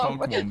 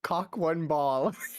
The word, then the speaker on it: cockwomble: Not sure I could use No, cockwomble that's in that. definitely not what it is. I couldn't use it really in that. I love that I pronounced it as cock one ball.